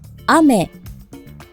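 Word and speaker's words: 雨: 여러분들에게 알려 드리려고 해요 먼저 자 비 하늘에서 내리는 비와 그리고 사탕 먹는 사탕 이게 같은 단어를 쓰는데요 액센트 위치가 달라요 혹시 여러분 어느 쪽이 비인지 어느 쪽이 사인지 한번 들어 보세요 아메 아메 아메 아메네 먼저 아메가 하늘에서 내리는 비고 아메는 먹는 사탕에 자 마찬가지로 다음 단어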